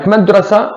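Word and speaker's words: مدرسة: I say Madrasat Dubai. Madrasat Dubai. I pronounce it. Fine. But if I say a word as one word, I don't pronounce it at all.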